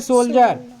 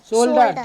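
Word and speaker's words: shoulder: कंधा बोलते हैं इसको इंग्लिश में हम बोलेंगे सोल्जर सोल्डर ठीक है एस ओ यू एल डी ई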